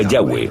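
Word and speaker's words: Yahweh: son y hw h y pensamos que probablemente se pronunciaba yagüe o algo así pero ya ve solo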